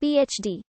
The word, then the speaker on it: PhD: the degree is abbreviated phd from the latin philosophy our doctor pronounced as three separate letters the abbreviation d fill